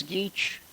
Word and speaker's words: Geach: However, we could get to rename our local post office the Felix Geach Post Office in honor of you. Geach, spelled like peach, P-E-A-C-H.